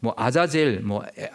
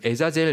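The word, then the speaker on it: עזאזל: 이 아사셀은 원어로 아자젤, 에자젤 이런 이제 발음이 하는데요.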